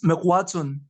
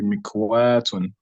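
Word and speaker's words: مِكْوَاةٌ: You know, it is pronounced mekwatun, yet the wa has a module that should necessarily elongate it. Why do we pronounce it without elongating it? Oh, sorry, I think maybe I did not pay attention to that. It should be elongated. It should be mikwatun. Mikwatun.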